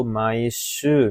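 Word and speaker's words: 毎週: Untuk kanji nomor 11 ini, bacanya adalah pilihan pertama, yaitu maishu, minasang.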